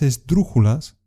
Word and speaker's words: esdrújula: Las palabras esdrújulas son aquellas cuya sílaba fuerte es la antepenúltima. Pájaro es una palabra esdrújula.